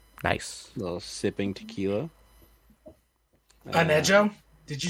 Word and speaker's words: Añejo: I'm drinking Casamigos Añejo tequila. Nice. A little sipping tequila. Anejo?